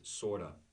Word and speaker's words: sort of: on vacation in Brazil the pronunciation is sorta I'm sort of sort